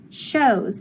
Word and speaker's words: shows: underline those two letters my o is gonna be long and my w is silent okay so it says oh so sh os shows very good listen to